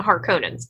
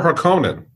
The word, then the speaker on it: Harkonnen: Is there any redeeming qualities in the Harkonnens? I think that right off the bat, planning. A big surprise, a big thing. Paul reveals you're Harkonnen or Harkonnen.